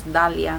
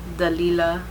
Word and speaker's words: Dalia: to tell people like it's Dalia, not Dalia, not Dalila, because people just add on syllables and stuff.